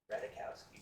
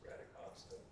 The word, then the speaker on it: Radikowska: But, Emily Radikowska, Radikowski, but apparently it's pronounced Radikowska.